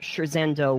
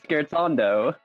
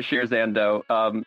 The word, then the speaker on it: Scherzando: What do you think of when we say the word pronounced correctly, which is Scherzando? Music. Ooh, oh, that's correct. So this was a me thing. All right, never mind. No, everyone pronounces it Shirzando.